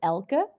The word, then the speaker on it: Elke: E from my name, which is Elke, but Americans might pronounce it like Elke because apparently is really hard for Americans to pronounce, but that's okay.